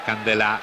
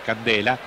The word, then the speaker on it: Candela: di chiara origine italiana come candela noi pronunciamo alla francese anziché candela però sono gli stessi giocatori che dicono che preferiscono essere chiamati in questo modo tanto attenzione ancora ieri